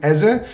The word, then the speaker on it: Eze: are Crystal Palace Eberechi Eze, or Ize, I don't know how you pronounce it in the USA. In Europe we call him Eze.